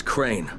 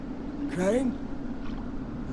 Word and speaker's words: Crane: No, my name's Crane. Crane? Crane rhymes with train and brain and train and grain